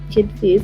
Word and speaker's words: Kid Faze: I think we're gonna just have to let Kid Phase. That's your stage name. That's how you say it, Kid Phase.